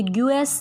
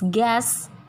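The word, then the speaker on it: guess: जी के बाद और किसी भी वोवल से पहले जब यू आता है तो वो साइलेंट होता है। ये ग्यूएस नहीं होता, इट्स गैस, गिटार, गार्ड।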